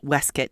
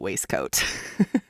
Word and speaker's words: waistcoat: You'll have to endure me pronouncing it waste coat. Well, it's funny because I was looking this up in the Oxford English dictionary. And they actually have waste coat and wisket. Weskit listed. It sounds like biscuit.